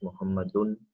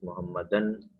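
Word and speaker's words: محمد: So you notice here that a proper name such as Muhammad has three forms in Arabic. Once it's pronounced as Muhammadun. In other place it's pronounced as Muhammadan, and in other place you see Muhammadin.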